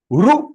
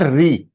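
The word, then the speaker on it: ऋ: It is not a Sanskrit pronunciation. So if it is Sanskrit pronunciation, it is Ru.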